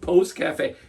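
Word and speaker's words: Pousse-café: I'm glad you asked Post Cafe and p o u SS e uh it's how you spell it I've been scared to death to say this word literally all day but it's Post Cafe you've been doing great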